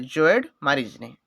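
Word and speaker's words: Sjoerd Marijne: अच्छा ये ना देखिपे SJOERD मारिजनी है जोएड मारिजनी टी मोर जी प्रोनाउंसिएशन एपट सेपट हो किंतु स्पेलिंग या है मन रखिए।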